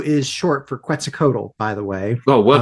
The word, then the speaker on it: Quetzalcoatl: But what we got for Q, and Q is short for Quetzalcoatl, by the way. Oh, well done for pronouncing that.